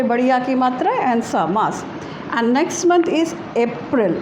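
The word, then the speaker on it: Mars: March is M-A-R-S, and the pronunciation is Mas, right? Ma pe badiya ki matra and sa, Mas.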